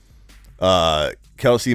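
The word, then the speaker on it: Kelce: Travis Kelsey, or Kels, however you want to pronounce his name now that he's corrected the world. My name's actually Travis Kels, but it's okay. You can keep calling me Kelsey.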